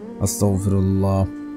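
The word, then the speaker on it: أستغفر الله: 100 বার এস্তেগফার পড়বেন আস্তাগফিরুল্লাহ আস্তাগফিরুল্লাহ আস্তাগফিরুল্লাহ আস্তাগফিরুল্লাহ আস্তাগফিরুল্লাহ এভাবে পড়বেন তাহলে আপনার উচ্চারণ ঠিক হবে দোয়া কাজে আসবে আস্তাগফিরুল্লাহ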